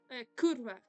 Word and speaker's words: kurwa: Kurwa. I don't know if it's with an R or not in pronunciation, but it's kurwa.